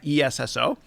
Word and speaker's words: Esso: gas station in America, ESSO, it actually used to be part of Standard Oil. And Esso is a play on the letters S and oil, Standard Oil, even though it's spelled ESSO.